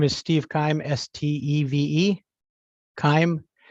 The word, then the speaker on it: Keim: you uh my name is Steve Keim s-t-e-v-e kaim K as in Kevin i h m is